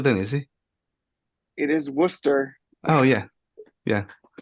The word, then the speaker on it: Worcester: Oh no, it's not going to be Worcester then, is it? It is Worcester. Oh yeah, yeah. As in Worcestershire sauce, which exactly.